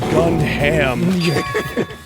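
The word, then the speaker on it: Gundham: It's pronounced gun ham.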